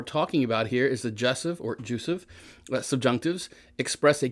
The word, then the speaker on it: jussive: Now that's a funny word, jussive. It's actually probably supposed to be pronounced jussive. I'll just say I'm probably weird the way I pronounce that. I'll try to remember to say jussive.